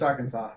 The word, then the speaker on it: Arkansas: Yeah, it's Arkansas. That's how you pronounce it.